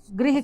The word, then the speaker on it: गृह: कुछ अगर इन्हें शुद्ध रूप से उच्चारण न किया जाए तो एक जैसे ही लगेंगे ग्रह, लेकिन यदि इनका शुद्ध रूप से उच्चारण किया जाए तो भी इनमें बहुत ही थोड़ा सा अंतर होता है, इसीलिए इन्हें कहा जाता